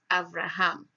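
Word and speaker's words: אברהם: It is pronounced there as Avraham and written as Aleph Bet or Vet Resh, He, Mem.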